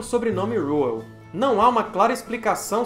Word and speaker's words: Reuel: os efeitos desse vídeo eu vou usar mais a pronúncia em inglês que seria algo como rual eventualmente eu posso falar o aportuguesado o réu em quatro de janeiro